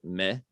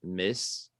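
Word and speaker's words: maïs: french would be uh me very similar to the english maze um in louisiana it would be pronounced uh miss by a lot of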